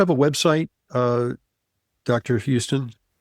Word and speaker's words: Huston: Houston, like uh like the Hollywood director, Houston, hus, not like Houston, Texas, or as we call it here in New York, Hston Street.